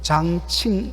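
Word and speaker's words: 江青: 여기 우리 방자매님 계시지만 중국어 발음을 보니까 장찡, 장칭 이렇게 되더라고요.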